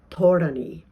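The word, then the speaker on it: ธรณี: And it's pronounced in the Thai tradition, where this narrative really is very active and very much represented visually as well. It's pronounced Thorani.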